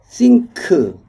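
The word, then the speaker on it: sinc: 그러면 이것은 뭐 어떻게 나타날 수 있냐면 이 싱크, 싱크라고 읽습니다. 싱크, 여기에서는 싱크 x가 파이 x니까 e x 대신 t니까 싱크 e t 이렇게 될 수가 있죠.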